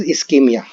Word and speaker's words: ischemia: So what is ischemia? Remember ischemia. This is how it is pronounced.